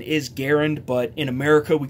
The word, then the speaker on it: Garand: And again, the proper pronunciation is Garand, but in America we call it the Garand, the M1 Garand, and that's what I'm going